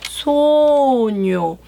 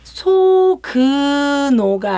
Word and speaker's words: sogno: Io 나는 sogno. SOGNO가 붙으면요. G 소그노가 아니고요. 뇨가 돼요. GNO가 뇨.